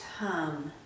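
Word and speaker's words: Ham: We'll use the throat seed sound of hum, spelled H-A-M, but pronounced hum.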